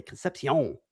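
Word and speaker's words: Concepción: I'm pretty sure I'm pretty sure there's an accent mark over the O so I believe you are pronouncing it correctly.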